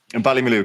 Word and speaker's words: Ballymaloe: Tell me, Ballymaloe, is that how we pronounce that? Ballymaloe, correct.